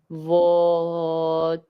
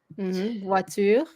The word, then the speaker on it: voiture: Voiture. Don't say the S. Voiture. Remember when we said like in TOILE, toile? So it's voix. You hear the oa? Oh yeah, toi, voix. Voiture.